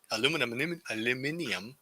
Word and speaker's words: aluminium: And it has no aluminum in it. It has no aluminum in it. Most deodorants have aluminum in it. Aluminium.